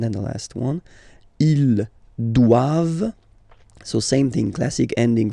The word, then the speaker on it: doivent: All right, and then the last one, ils doivent. So same thing, classic ending for the plural form, ENT here, okay, but then you don't pronounce it. Doivent, doivent, elles doivent, ils doivent, elles doivent.